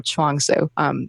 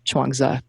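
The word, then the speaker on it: Zhuangzi: Lao Tzu or or Chuang Tzu Chuang Zhou is probably the more appropriate pronunciation but in any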